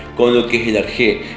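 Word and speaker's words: ἀρχή: Eso es lo interesante en el sentido de que cuando yo digo arjé y veo cómo se escribe, cuando observo cómo se escribe arjé, se escribe con alfa, ro, chi y la letra eta.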